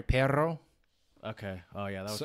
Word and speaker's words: perro: Like the word dog is perro. Sorry, perro.